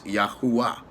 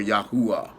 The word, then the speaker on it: Yahuwah: deeper pronunciation affiliations I found out that the name Yahweh was even incorrect and it was yahuwah or yahuwah now with that being